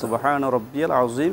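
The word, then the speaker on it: سبحان ربي العظيم: সুবহানা রাব্বি ইয়াল হবে এখানে শব্দের উচ্চারণটা হবে ইয়া দিয়ে ইয়াকে যদি আমরা হামজা উচ্চারণ করি তাহলে উচ্চারণটা উচ্চারণটা বেঠিক হবে এবং অর্থ বিকৃত হবে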